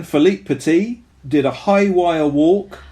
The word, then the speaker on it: Philippe Petit: thankfully dead and also philippe petit that is not how you say it at all i'm gonna do it again philippe petit did a high wire